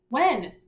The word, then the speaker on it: when: first-grade word is that word that has the silent H in it whoa and when I mines right underneath